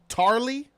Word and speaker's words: Tarly: Baratheon okay Greyjoy okay tarly no Charlie that's not that's not how you say it well yeah Sam